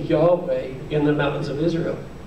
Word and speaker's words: Yahweh: would would pronounce it Jehovah depending on how these letters here or this letter here is above some would say it's pronounced V some would say it's pronounced W and then the vowel